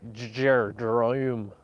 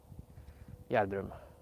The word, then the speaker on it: Gjerdrum: In Gjerdrum. It's probably the hardest town to pronounce in English. And if I pronounce it in Norwegian, you would have no idea how to spell it. Gjerdrum.